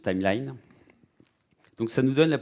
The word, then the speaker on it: Timelion: C'est Timelion. Alors ils veulent qu'on le prononce Timeline.